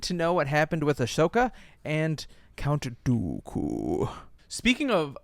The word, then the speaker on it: Ahsoka: We need to know what happened with Ahsoka and Count Dooku. Speaking of Ashoka, they did nothing.